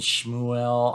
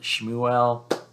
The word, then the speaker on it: Shmuel: of thought was coming nicodemus and shmuel i i think that's kind of the pronunciation of samuel but shmuel one totally steeped in